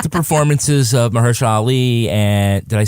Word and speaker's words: Mahershala Ali: But I did like the performances of Mahershala Ali and, did I say it right? Mahershala Ali.